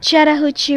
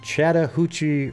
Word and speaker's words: Chattahoochee: Chattahoochee River. Can you believe that? Someone actually has a audio file on YouTube how to pronounce it. All right, so it's Chattahoochee River.